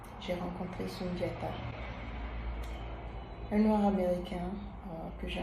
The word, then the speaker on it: Sundiata: Alors je lui ai demandé, how do you pronounce it? Juste pour entendre comment il allait le dire lui-même. Il a dit Sundiata, Sundiata.